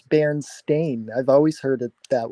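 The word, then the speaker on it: Berenstain: the song is the way that I've always pronounced it myself it is never supposed to be Berenstein it's Baron stain I've always heard it that way I don't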